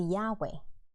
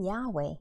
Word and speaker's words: Yahweh: And many Bible scholars believe the original pronunciation should be Yahweh.